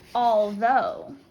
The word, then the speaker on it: although: next is the word although although 3 2 one and zero here we have all and also all and then the O and again this is making the long o sound the o u g